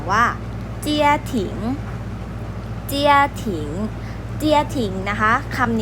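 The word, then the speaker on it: 家庭: ออก เสียง ว่า ว่า เจีย หลิง เจีย หลิง เจีย ทิ้ง นะ คะ คำ นี้ นะ คะ จะ หมาย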